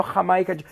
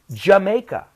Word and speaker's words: Jamaica: okay Jamaica I look I want to look at this one because of pronunciation no yeah no ha mikage Jamaica someone from Jamaica Bob